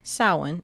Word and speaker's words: Samhain: And it is pronounced Samhain in Ireland. Okay, it's pronounced different things in different countries, but we are focusing on Ireland.